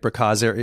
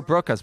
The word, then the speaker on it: Broca's: So that's kind of like Bracaz area. Is it Bracaz area? Did I say it right? I'm not sure what you're referring to. Oh, it's part of the brain. B-R-O-C-A, Broca's. Oh, Broca's.